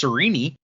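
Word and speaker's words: Sarene: over to serene who the pronunciation guide says it should be pronounced sirini but i think cerini sounds dumb so i'm not gonna do it sorry brandon uh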